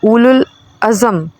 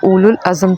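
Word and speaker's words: أولو العزم: है बल्कि किसी भी लुल अजम अ सॉरी प्रोनाउंस एशन में गलती हो गई पहले यह लफ्ज उलल अजम था पहले भी मैंने इसको प्रोनाउंस किया था बल्कि किसी भी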